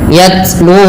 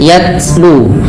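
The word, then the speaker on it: يتلو: Pada lafal yatlu ada bunyi ta yang disukunkan. Cara membacanya adalah dengan menyesuaikan daripada makhraj dan sifat huruf ta. Eh, maaf, sifat huruf ta yang paling menonjol dalam ketika dia sukun adalah sifat syiddahnya, yaitu tertahannya suara. Dan langkah kedua yaitu adalah sifat hamusnya, mengalirnya nafas.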